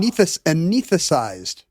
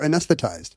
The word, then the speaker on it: anesthetized: for anes no an anth thesized for anesthetized and they just left